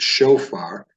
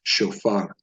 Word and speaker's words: shofar: they would pronounce it shofar, but the enunciation is actually on the last syllable, at least with Sephardic pronunciation of Hebrew, which is more the approach we're taking in this program. So it's shofar.